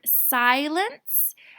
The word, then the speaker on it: silence: I have the word silence and I have this here this is called the soft C whenever a seat is next to an e it says the S sound so Elaine silence I